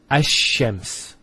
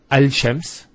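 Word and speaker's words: الشَّمْس: And because they're very close, what happens is this lam is not pronounced. And what happens instead is the lam is pronounced as a sheen. So there's actually a shadda here. So it's Ash-Shams not al-shams. Because notice when you say al-shams, it's not smooth. Rather than ash-shams, which flows and is nicer to hear.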